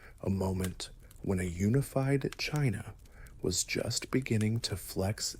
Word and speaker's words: Qin: The very name China is thought by some to derive from Chin, pronounced Chin.